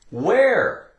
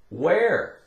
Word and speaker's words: where: E-R-E, we have the sound air. Where? Where?